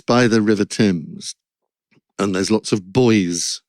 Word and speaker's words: Thames: of the things that I thought was about pronunciation, because it's by the River Thames, and there's lots of buoys floating on the Thames.